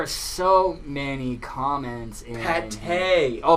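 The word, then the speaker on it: pâté: Oh, pate. Oh. Okay. It was autocorrect. Well, just how they spell is different than how you say it. Yeah, pate. Oh. Yeah, it's spelled P-A-T-E, but it's spelled P-A-T-A-Y.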